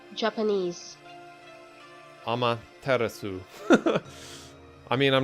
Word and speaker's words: Amaterasu: pronounce Emmett Aceros knee because if I've been pronouncing it wrong this entire time okay this video was it say Amaterasu Japanese Ummah terasu I mean I'm not gonna all probably more